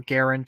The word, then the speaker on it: Garand: the United States had the M1 grand or Garand depending on how you want to pronounce it the Russians had the